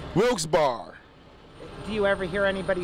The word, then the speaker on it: Wilkes-Barre: names separated by a hyphen sounds simple right wilkes bar do you ever hear anybody say it different all the time what do they say brooks berry but the correct way is wilkes bar barn with two r's looks better looks better